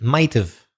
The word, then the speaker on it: might've: same with might have we pronounce it might've and could have could've so when we speak the H sound the have kind of disappears might've must've could have